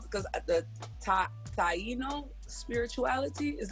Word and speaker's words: Taino: you say what it's called because the top Taino spirituality is how you say it yes okay